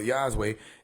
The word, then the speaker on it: Yahweh: communicate your way with Yahweh Yahweh communicate yeh or yah way and then you get